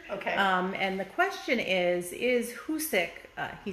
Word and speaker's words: Hoosic: And the question is Hoosic, he spelled it incorrectly though, it's Hoosic.